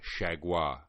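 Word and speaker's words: Chargois: involved in the decision JT shaguar as they say on American television I prefer to pronounce it shaja blown save second blown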